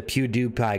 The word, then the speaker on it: PewDiePie: PewDiePie you do pie so Pew like pew pew pew right and then die pie Oh pew die pie all like you're shooting a pie right you'd pew die pie oh I think that's